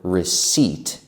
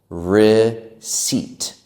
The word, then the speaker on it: receipt: That word receipt is a bit difficult to pronounce because it looks different than how we spell it. We say it like this: receipt, receipt. The P in that word is silent.